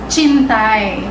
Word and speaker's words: Cintai: So by the way Ang spelling niya ay C I N T A I so sintay Siya ' ba So yung pronunciation Don is chinay so it's an Indonesian